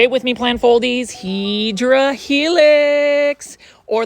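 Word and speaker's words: Hedera helix: And then here is another Heedra helix. Say it with me, plant foldies. Hedra helix or the correct way to say it is hideera helix.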